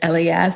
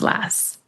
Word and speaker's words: LAS: So, you know, I get both and I don't get offended when someone says L or Lass, but it is pronounced last.